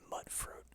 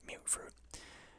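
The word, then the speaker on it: mutfruit: garden of mute fruit I always called it mut fruit until a a Mr handy pronounced it mute fruit so yeah this shack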